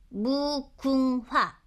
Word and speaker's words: 무궁화: 무궁화. 무 이게 궁이고 이거 뭐라 그랬지? 하하라고. 하가 아니라 화.